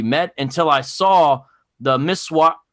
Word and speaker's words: miswak: And I didn't really actually even understand what he meant until I saw the miswak. How do you pronounce it, David?